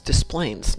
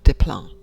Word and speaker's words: Des Plaines: live in chicago and the town near us is des plaines not diplom so what should we